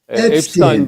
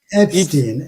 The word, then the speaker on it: Epstein: Eee, Epstein diye mi okunuyor bu dosyalar? Epstein dosyaları. Epstein.